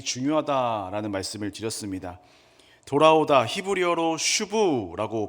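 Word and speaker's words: שוב: 돌아오다 히브리어로 슈브라고 발음을 하는데요.이 돌아오다라는 단어가 굉장히 중요합니다.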